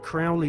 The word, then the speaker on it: Crowley: learned about aleister crowley he likes to bring have his name pronounced crowley to rhyme with holy and the satanists today